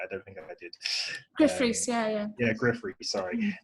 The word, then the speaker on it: Gruff Rhys: Did I pronounce his name right? I don't think I did. Gruff Rhys, yeah.